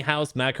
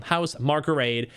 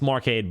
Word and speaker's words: Housemarque: Housemarque, Marque. I always say it's Marcade, but there's no aid in there.